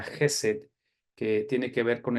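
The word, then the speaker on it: חסד: hebreo que se dice o se se se pronuncia jesed que tiene que ver con el amor de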